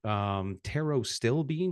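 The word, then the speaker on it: pterostilbene: from the purple varietal of fruits, fruit skins, taro stilbene, which is spelled PTERO, STILBENE, quercetin, bioflavonoids.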